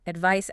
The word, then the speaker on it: advice: Advice has a soft s sound s. Advice has a z sound. Z. Advice. Advice.